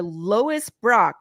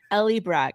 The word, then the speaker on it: Ellie Brock: wrong he was like you're Lois Brock and I was like no try again like Ellie Brock he's like Ellie Brock